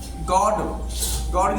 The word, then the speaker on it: god: गॉड की spelling क्या होती है? GOD। अब ओ क्या है? ओ की यहाँ पे क्या है? बड़ा ओ की उसमें आ रहा है।